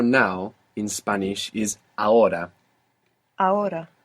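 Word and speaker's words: ahora: Spanish is a a this is spelled a h o r a a h o r a a a good is the H silent in every uh yeah unless it's c h in which case it's like English CH a is actually the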